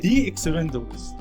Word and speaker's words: The Expendables: دي اكسبندبلز. ليه بقى؟ عشان اكسبندبلز اولها اي وده فاول، فده لو جاب عليها كلمه اولها فاول بتبقى ايه؟ دي.